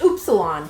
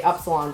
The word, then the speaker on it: Upsilon: U It's Upsilon is how we It's pronounced oopsilon technically, but we just say epsilon because English is different than Greek.